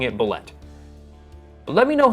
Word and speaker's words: bulette: bullet it says that the bullette is actually pronounced Boule so there you have it boule ble ble definitely sounds weird to me so I'm going to keep pronouncing it bulette let me know how you pronounce it I